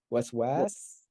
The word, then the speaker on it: الوسواس: is waswasil, waswas. Or is waswas? No, okay. So waswas, because of this aleph, the second syllable is lengthened here.